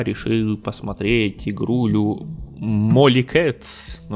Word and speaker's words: Molecats: Ну, вообще читается как Molly Cats, конечно, но при том, что это два слова Mol и Cats, то Mol Cats. Molly Cats, не знаю, все равно если вместе, это одно слово, по правилам читается Molly Cats.